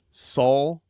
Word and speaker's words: Saul: Saul Tie. Saul, like Better Call Saul.